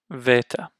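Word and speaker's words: βῆτα: English a ah Alpha next vetta it's like a kind of like a V makes a v sound so ah the gamma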